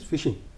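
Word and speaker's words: phishing: cyber fraud होता है उसको फिशिंग बोलते हैं भले उसका स्पेलिंग पीएच से शुरू हो बट इ फिशिंग हम कांटा डाला और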